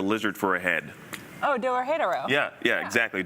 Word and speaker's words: Dorohedoro: Oh, Dorohedoro. Yeah, exactly. Dorohedoro.